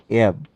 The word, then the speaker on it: EBCDIC: Now let us take up the concept number 2.9, FCDIC coding scheme. This is pronounced as FCDIC.